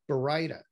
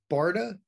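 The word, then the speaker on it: Baryta: And the correct pronunciation is in fact Bareida. Now, some people will call it Bareida. Some people call it Bareida. Some people call it Barda. I've even heard Bareita.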